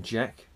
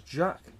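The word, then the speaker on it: Jacques: initially called the Union Jack which highlighted his preference for the French pronunciation of his name which was Jack Jac Jac which is the French pronunciation of James what um so that's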